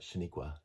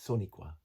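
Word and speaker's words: Sonequa: By the way, a Soniqua, not Shaniqua. It's Soniqua. Michael Burnham. I looked it up. Now, whether or not I'm pronouncing it correctly, but that's how it's spelled.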